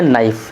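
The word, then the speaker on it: knife: जैसे यहां पे मैंने लिखा है नाइफ। नाइफ में के साइलेंट होता है।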